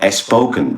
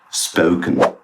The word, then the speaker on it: spoken: It's not Espoken, but spoken.